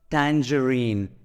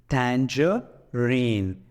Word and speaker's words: tangerine: follow that well so it is red as Tangerine Tanger rain okay let's see another